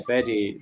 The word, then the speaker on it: Feddie: distillery yeah yeah because the idea was it was fetty so that it was easier to pronounce than fair but now everyone